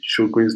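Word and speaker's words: Sjögren's: sjogren's disease children's disease it's important we know how to pronounce this properly shogun's disease are not as to grains disease because it's important for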